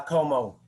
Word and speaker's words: Comeau: pronouncing your surname bro uh como just like perry como cool yeah yeah i'm